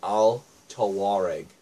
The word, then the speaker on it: Al Tawareg: can actually pronounce that it's Al toar EG for those of you